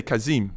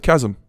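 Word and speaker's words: Kazım: going to pronounce it it's like you L say kazim my name's not kazim but I don't say nothing because you're not Turk you understand what I'm saying my name's kazm km I do think that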